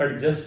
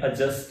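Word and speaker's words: adjust: अपनी बुक में लिखा कि जब भी डी और जे इकट्ठे आते हैं तो डी साइलेंट रहता है अब बच्चों को यह रूल पता नहीं है जैसे ए डी जे यू एस टी अब बच्चे इसको एडजस्ट बोलते हैं अब एडजस्ट नहीं है अजस्ट है डी साइलेंट रहेगा डी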